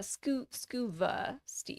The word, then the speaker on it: Scuba Stev: Yeah, Scuba Steve. That's his name? Or Stev? Scuba, well, Scuba Stev, but I still pronounce it Steve.